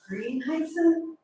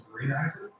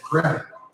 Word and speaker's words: Grieneisen: I get Gren, like Grendel, soft sound for a monstrous, person-like giant dress.